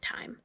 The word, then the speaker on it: time: In this word, the E is silent because the I is a long I. Now, a long I sounds like I'm in this word. So that makes the E silent.